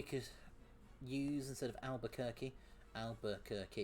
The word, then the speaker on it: Albuquerque: Albuquerque. It's got to be 4 syllables.